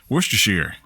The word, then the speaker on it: Worcestershire: go that lets Chester what's your shyster alliance Worcestershire that's all right way to say it yeah